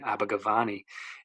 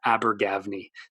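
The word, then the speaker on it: Abergavenny: telling the guy I need a ticket to abber gavy he just looked at me like what are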